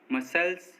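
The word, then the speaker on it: muscles: सी silent, S के बाद आया सी साइलेंट होता है, मतलब जब किसी वर्ड में एस के बाद सी आएगा तो एस के बाद आया सी साइलेंट होगा।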